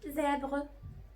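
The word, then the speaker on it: zèbre: اخر حرف معانا هو الزاد، والزاد دايما بنطق زي، كم زابغ، زابغ، زابغ اللي هو الحمار الوحشي المخطط، زيبرا، زابغ.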